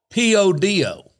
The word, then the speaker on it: Podo: People that live in Podo call it P-O-D-O.